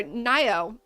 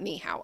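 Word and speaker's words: Nai'o: Ni's or Nio, not Nihow. I keep saying Nihow. That is how you say hello. That's his name is not hello.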